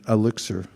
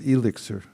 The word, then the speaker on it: elixir: l i x elixir i was probably pronouncing it elixir but it's elixir elixir is a noun